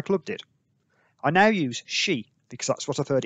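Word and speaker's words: し: Four is pronounced she, as in she was counting to 10 in Japanese.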